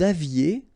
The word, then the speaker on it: aviez: Vous aviez, EZ at the end, et aviez, and then liaison. Vous aviez.